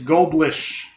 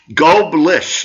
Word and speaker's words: Goblirsch: My last name is Goblirsch. Goblirsch, ladies Goblirsch. And gentlemen. Silent R, silent C.